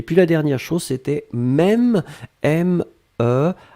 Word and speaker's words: même: Et puis la dernière chose, c'était même, M-E, accent circonflexe, M-E. Très bien. Ici, Yossi, hein, pour votre information, l'accent circonflexe doit rester ici puisqu'on le prononce.